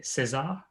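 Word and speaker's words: César: pronounce this it's i i find it quite hard to insert like a french inside an english language so i would say cezar but if i say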